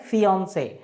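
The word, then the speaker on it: fiancée: मतलब दोनों का प्रोनाउंसिएशन सेम है, प्रोनाउंसिएशन में कोई अंतर नहीं है। ये क्या है, फियांसे, और ये भी क्या है, फियांसे, है ना। फियांसे ये है और फियांसे ये है। क्लियर, दोनों का प्रोनाउंसिएशन सेम है। There is no difference between the pronunciation of these two, है ना। प्रोनाउंसिएशन दोनों का ही सेम है, लेकिन एक मैन है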